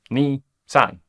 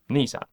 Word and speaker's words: Nissan: Nissan comes from the first syllables of the two words, so NIhon SANgyo, Ni-san, Nissan.